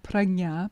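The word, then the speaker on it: prajñā: So gna, gna, pragna, pragna.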